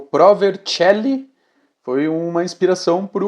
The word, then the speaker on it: Vercelli: Então, tipo, aí ele tá lendo com a pronúncia do português, né? Mas é Pro Vercelli, que dá tipo um tique.